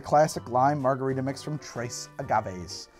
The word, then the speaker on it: Tres Agaves: lime margarita mix from Tres Agaves I believe that you're supposed to pronounce the S it's just Trey Agames all right let's see